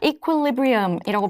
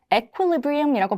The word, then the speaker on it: equilibrium: 자, equilibrium이라고 발음하기도 하고요. equilibrium이라고 발음하기도 합니다.